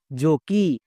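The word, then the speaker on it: jockey: নেই যেমন জে ও সি কে ই ওয়াই জো কি দেখো আবার শেষে ই ওয়াই আছে তাই এর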